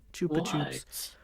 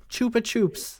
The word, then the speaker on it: Chupa Chups: It is pronounced Chupa Chups. Chupa Chups in the US and Chupa Chups in the UK. We are both correct.